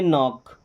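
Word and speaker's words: knock: है यहीं पे है जब सी और के साथ में हो ओके तो केवल के का उच्चारण किया जाता है क का सी का उच्चारण वहां पे नहीं होता है फिर ओके तो के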